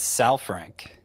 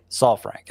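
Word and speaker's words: Saalfrank: I thought it was South Frank. Yeah. But the usage for him is like just at the point where it started to stabilize and he seemed like that. That's Andrew Salrank.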